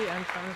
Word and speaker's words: andSons: How do you say it? And Sons. andSons.